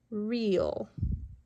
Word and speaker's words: real: E and A are vowels. And the rule is when two vowels are together, we say when two vowels go walking, the first one does the talking, the second one is silent. So we hear the E but not the A.